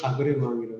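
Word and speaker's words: agrément: 신임장을 아그레망이라고 해요. 외교용어로 아그레망이라고 하는 게 불어로는 어그리먼트, 영어의 어그리먼트를 불어식으로 발음하면 아그레망인데 어쨌든 그걸 받아들인다, 공식적으로 인정한다, 이게 이제 신임장.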